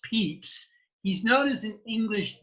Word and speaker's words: Pepys: Even though his name looks like Pepys, it is pronounced Pepys.